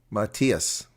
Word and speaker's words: Matthias: My dad is from Wales, and that is why my surname is pronounced Matthias.